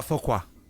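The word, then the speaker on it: Foqua: his name again uh focus okay i'm not gonna be able to pronounce that how do you spell that uh f-o-q-u-a okay thank you you're welcome kind of like a faux pas right what's the name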